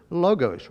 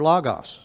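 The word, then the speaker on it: λόγος: translated from, it's from this Greek word logos or logos, depending on which way you want to pronounce it.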